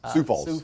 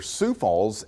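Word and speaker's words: Sioux Falls: always say that wrong where uh see Falls sou falls falls sou Falls sou Falls my brand which fun fact are there sou Falls s IO ux that's in South Dakota uh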